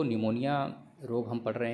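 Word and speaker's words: pneumonia: याद रखेंगे निमोनिया की स्पेलिंग पी से स्टार्ट होती है, और लेकिन इसको हम रीड निमोनिया ही करते हैं क्योंकि इसमें पी साइलेंट होता है। याद रखेंगे, नहीं कई बच्चे कहेंगे पी आ रहा है इसमें, तो पनमोनिया क्यों नहीं पढ़ते हैं।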